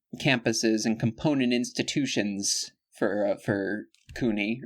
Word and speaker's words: CUNY: In order to find, there are several different campuses and component institutions for CUNY, or CUNY, yeah, I think that's a hard C.